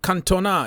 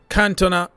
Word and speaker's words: Cantona: Eric Cantona is in French. Cantona is the way English people pronounce it.